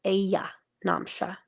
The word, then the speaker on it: Ayanamsha: Google Vault of the Heavens, Lahiri Ayanamsha, and it's spelled Aya Namsha, Aya, but it's Lahiri Ayanamsha.